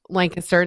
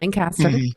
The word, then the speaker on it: Lancaster: um a little town called lancaster and it's pronounced lancaster not lancaster and i am a hair stylist by day